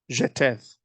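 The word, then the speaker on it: Jetheth: Timnah, Duke Alva, Duke Jethet, or I think the first H is silent, Jeteth, Duke Aholibama, Duke Elah, Duke Pinon, Duke Kanaz, Duke Teman, Duke Mibzar, Duke Magdiel, Duke Iram.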